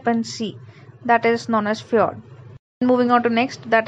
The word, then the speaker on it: fjord: Moving on to next topic is fjord. Fjord, it is called with different names. Sometimes called fjord. It's not J silent. It's called fjord or fjord or fjord. This J is silent here.